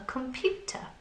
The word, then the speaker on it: computer: sounds within the word now the stressed syllable is the strong sound it's the sound that we put emphasis on listen computer computer which one is the strong sound good pew computer computer so pew is the strong sound so we